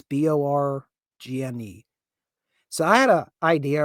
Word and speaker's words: Borgne: That is going to be Lake, how do we pronounce this? I want to say Borgne. It's Borgne.